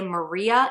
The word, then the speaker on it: Marie: own name in videos, it is pronounced in 3 syllables, not 2, and it's pronounced more like we would say Maria in her native Japanese.